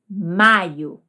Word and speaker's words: maio: Sem acento, maio, que é o mês. Com acento, maio.